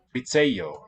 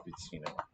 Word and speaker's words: oficejo: Oficejo, not oficino.